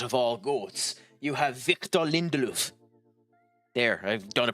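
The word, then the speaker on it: Victor Lindelöf: You have Victor Lindelof. There, I've done a pronunciation for you, you jackass. Victor Lindelof.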